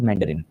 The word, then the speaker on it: मंदारिन: तो जब मैं अंग्रेजी में इस भाषा का नाम लेता हूं तो मैं अपनी भाषा को मेंडरिन कहता हूं। तो राइट वन इज मेंडरिन।